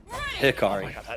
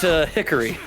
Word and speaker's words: Hikari: Hikari is how it's pronounced. Pick me on Yasua. Hickari. I mean, but definitely not pronounced Hickory.